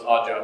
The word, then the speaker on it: 0DDJ0BB: That's, even though it's odd job, it's spelled with zeros because hackers, right?